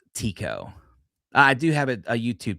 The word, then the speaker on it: Tycho: That's a massive crater called Tycho. And actually, I think it's actually pronounced Tico.